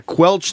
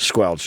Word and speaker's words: squelch: Squelch. Oh. Yeah. Maybe I said it wrong first. It's squelch.